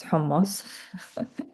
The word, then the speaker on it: hummus: It's pronounced hummus.